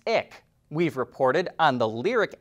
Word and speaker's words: IQ: filed a trademark for two more names that end in iq which is pronounced ick we've reported on the